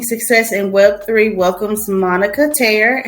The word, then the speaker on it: Taher: Welcomes Monica Taher.